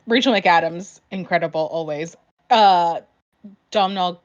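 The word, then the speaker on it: Domhnall: mcadams incredible always uh domino gleeson that's how you say his name yeah don't always think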